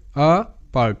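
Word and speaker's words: apart: এ আর টি পার্ট আ পার্ট আপার্ট আপার্ট তো এটাকে অনেকেই অ্যাপার্ট বলে বাট এটা অ্যাপার্ট নয় আপার্ট ওকে এ এখানে আ হিসেবেই উচ্চারিত সো ফাস্ট থেকে যদি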